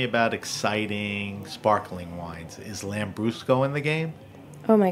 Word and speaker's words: Lambrusco: talk to me about exciting sparkling wines is lamb Brusco in the game oh my gosh absolutely absolutely lamb Brusco is a red sparkling tell me what lamb Brusco is yeah Lambrusco is a a red sparkling wine right and